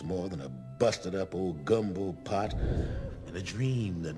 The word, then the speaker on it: gumbo: It's pronounced gumbo, like literally how it's spelled.